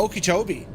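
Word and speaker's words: Okeechobee: that Lake what's the lake of it uh okobi is how you pronounce it h and then it's going to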